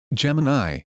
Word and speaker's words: Gemini: And I said, I know they're pronounced Copilot. Gemini, but that's what I'm used to and that's how I'm going to call them.